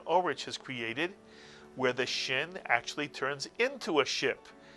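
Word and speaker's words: ש: And what sound does the letter Shin always make? The Shin always makes the sound sh, as in the word ship. So now you pronounce the sound of the Shin.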